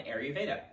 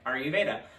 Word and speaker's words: Ayurveda: little video with me on air veda or i just said i made it i just said it wrong all right okay are you veda because you have a